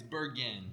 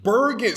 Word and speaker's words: Bergen: We're here at Bergen House. Did I say that right? It's Bergen. Bergen. See, Soft G.